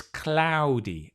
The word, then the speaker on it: cloudy: single vowel it's a it's not a it's a yes it's a diphthong it's so it's slides it's sorry it's ow cloudy it's cloudy it's cloudy